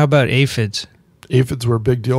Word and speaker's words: aphids: There's a lot of aphids, or aphids as you call them. What's the right way to say it? Aphids are fine. Either or is a good pronunciation.